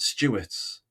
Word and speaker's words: Stuertz: series and today I've been joined by Stewart's I'm pronouncing that correct arrhyit of um human.